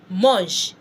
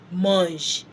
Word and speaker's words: mange: An example is mange. Je mange. I am eating. And you know the E that ends mange. M-A-N-G-E. M-A-N-G-E. That E does not have any accent. Mange.